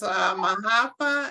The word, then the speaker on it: Maafa: I had never, so you call it Ma'afa? Is that how you say it? Thank you, Lyndon. And Marimba Ani Heard that spoke a term. lot about it. Yeah, so it's Mahafa, and they said so instead of calling it